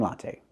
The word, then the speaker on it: latte: Pronunciation, latte. Use the same sounds, the ah like hot and stop, la, and the a like day and say, te, latte. He's drinking a grande latte.